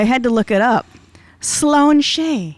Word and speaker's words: Sláinte: say i'm st patrick's day and that's that's slan shay which is why l a i n t e but it's pronounced and i had to look it up sloane shea it's awfully close to schlong i'm just saying